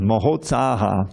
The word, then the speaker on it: Mohotsaha: Utsahan means enthusiasm. And Maha Utsahan becomes Mohotsaha. No one pronounces his name correctly, but that's what his name is.